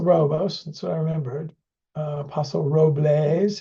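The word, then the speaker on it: Paso Robles: that's what I remembered Apostle Roes is the way they pronounce it here's their team so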